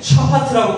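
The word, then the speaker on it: שָׁפַט: 이 명사인 미시파트는 이제 동사형으로 바뀔 때는 샤파트라고 발음하게 됩니다.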